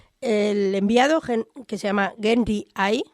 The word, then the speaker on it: Genly: enviado que se llama genji hay Aunque la gente de gueden le llama genly porque no pronuncian bien la r cuando llega cuando llega